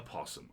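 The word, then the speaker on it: opossum: quiet but angry possum you don't pronounce that oh why is the o even there don't ask me but it's a possum a possum okay there's no o it's just possum possum it's a possum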